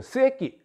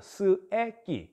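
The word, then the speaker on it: 須恵器: 일본에선 스 애 비 발음 조심하세요 새끼 아닙니다 스 애끼 그 애끼 이 발음은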